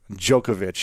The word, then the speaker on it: Djokovic: of greatness podcast we have the legendary Novak jokovic that's great in the house man you pronounced it very well pronounce the way you